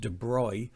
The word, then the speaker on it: de Broglie: called the debry equation and de Broglie it pronounced debry and it's lambda equals